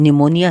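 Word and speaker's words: pneumonia: नहीं बोला जाता हूं निमोनिया है उसकी स्पेलिंग स्पीड शुरू होती है और इसमें पिन नहीं बोला जाता है हैं तो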